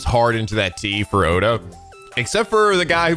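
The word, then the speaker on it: Ota: acting the game was when they pronounced oda's name they really had to hit the the t sound so everybody who gets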